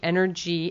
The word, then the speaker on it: Ener-G: The brand is spelled, are you writing this down? Energy, ENER-G, Energy Egg Replacer.